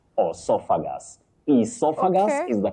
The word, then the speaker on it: esophagus: Essophagus is the correct pronunciation of that word.